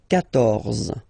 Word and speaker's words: quatorze: So remember Q and U here. Well, basically you get to put this U vowel, because that's the rule in French, even if you don't pronounce it, okay? So you will get the sound K here.